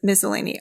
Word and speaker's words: Miscellany: if you prefer anesthetic miscellany because actually both pronunciations of miscellaneous miscellany are correct you can pick whichever one you